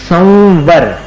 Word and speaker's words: संवर: करते हैं नहीं करते म संवर म जैसा उच्चारण नहीं है वो वो ऊपर के दांत और नीचे के होठ को मिलाकर अपन उच्चार उच्चारित करें संवर व में मिलाना पड़ता है अनुस्वार का उच्चारण इसी